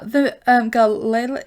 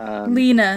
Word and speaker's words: Lena: And the girl, Layla, is it Layla? Why am I pronouncing the name wrong? Lena? Lena. Simone and Lena. Yeah. Yeah, Lena. I was calling her Layla.